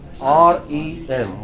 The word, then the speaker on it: REM: REM. What is it? REM. You know, this is how abbreviations go. Stress on the last letter.